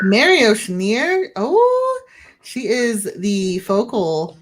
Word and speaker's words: Mary Oceaneer: Let's move on to our next member, Mary Oceaneer. Gotta say it like that. Mary Oceaneer. Mary Oceaneer.